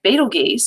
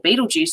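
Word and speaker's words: Betelgeuse: a larger star something like beetle geese or beetlejuice depending on how you want to pronounce it uh that one's a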